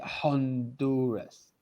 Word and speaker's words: Honduras: next one please okay honduras this is the h we don't see the h in spanish we say you would say honduras okay is it anything